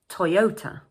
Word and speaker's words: Toyota: This is a three syllable word and the second syllable is stressed. So in English, we say To-yo-ta Toyota Moving on to some popular French makes now.